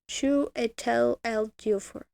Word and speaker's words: Chiwetel Ejiofor: Oh, there's the pronunciation. Chiwetel Ejiofor.